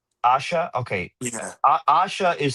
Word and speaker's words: Asha: know if I I don't know how to pronounce her name properly. Asha. Asha.